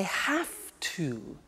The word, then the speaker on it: have to: hear my pronunciation I have to notice I don't say V I say F have have it becomes